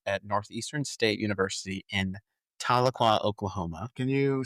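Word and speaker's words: Tahlequah: T A H L E Qua H. I always call it Taliqua. I think that it's I mean I say Taloqua, I think it's Taloqua, but that doesn't fit in the mouth, if you know what I mean. emphasis on the wrong salab.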